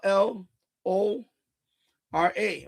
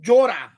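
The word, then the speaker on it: llora: So double L is j like Joral. Cry is L L O R A, right? But it's not Lora. It's Jorah. Jorah.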